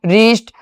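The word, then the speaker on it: wrist: साथ में है तो डब्ल्यू का उच्चारण नहीं होगा। डब्ल्यू आर ओ एन G wrong रीस्ट rap rake.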